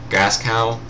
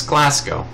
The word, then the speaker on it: Glasgow: and let's see, we could just go for Gascow. I can't even begin to pronounce these names. Let's see, Glasgow? It's Glasgow.